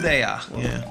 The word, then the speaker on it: Pureya: So this is player, as I believe it's pronounced. Pureya. A Japanese man saying the word or player.